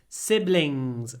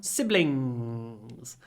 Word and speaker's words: siblings: I have three siblings siblings make sure when you say in at the ending tip of the tongue down siblings very useful word I